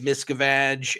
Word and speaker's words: Miscavige: David Miscavige, and all these other things. And I'm never going to say his name the other way ever again. It's Miscavige for the rest of time, unless I have a Freudian slip.